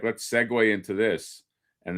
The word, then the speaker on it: segue: segue they're like let's segue into this and they always write it seg w a y because naturally that's what you think of segue.